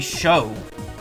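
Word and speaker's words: Chaud: either it's not pronounced chod it's supposed to be show cuz it's the French word for fire or or flame so it'll be show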